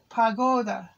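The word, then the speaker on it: погода: weather weather weather is pagoda p o g o g a o c a oh i'm getting old mixed up p o g o d a now this g sounds like a g pagoda that's weather at the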